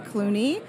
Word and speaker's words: Cluney: as Instagram and Cluney. Sounds like the actor, but it's spelled C-L-U-N-E-Y.